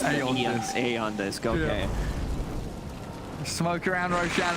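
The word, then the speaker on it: Aeon Disk: removed from the game e on this pronounce a on this go okay smoke around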